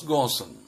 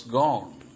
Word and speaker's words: Ghosn: Carlos gawson also pronounced this Carlos gond I present Carlos gaussen as another great manager